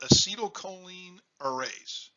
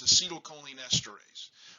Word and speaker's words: acetylcholinesterase: what we do and i'm going to mispronounce this i call it acetylcholine arrays the true word is acetylcholinesterase but i kind of